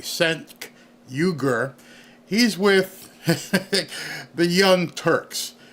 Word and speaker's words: Cenk Uygur: And if you don't know who this guy is, let me pronounce his name correctly. Cenk Uygur.